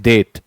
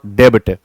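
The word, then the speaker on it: debt: इट इज डेट नॉट डेब।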